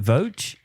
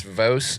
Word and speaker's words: Voce: portion of this this is riley is it voge it's it's vos it's rooted from the italian greek subject i